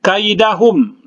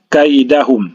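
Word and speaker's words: كَيْدَهُمْ: Kemudian kaidahum, di sini ada huruf ya mati, ya. Ini namanya madlin. Cara membacanya dilemaskan saja kaidahum.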